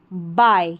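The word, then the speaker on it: buy: People liked to बाय। यहां पर इसको बाय पढ़ा है। यू यू जो है इसका उच्चारण नहीं हो रहा है।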